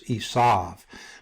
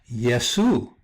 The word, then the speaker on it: Esau: So you have Esau, and then because it doesn't have another dot here for the U, some people pronounce this Esav. But you could also easily pronounce this Yesu, Yesu, just like Jesus, because Jesus means Esau.